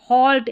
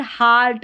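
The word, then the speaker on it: halt: ऐसे ऐसे हॉल्ट, अब यहाँ पर हाल्ट साल्ट नहीं बोलेंगे, हॉल्ट सॉल्ट, अ उच्चारण होता है।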